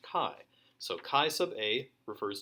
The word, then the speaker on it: chi: scripty looking x but it's not pronounced x it's pronounced chi so chi sub a